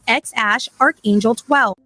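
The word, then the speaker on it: X Æ A-12: according to the proud father the name is pronounced X Ash archangel 12.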